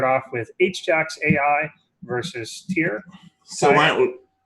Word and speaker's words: Tyr: But anyway, our matches for tonight, as we said, is going to start off with H-Jax AI versus Tier. So why don't we, it's pronounced Tier.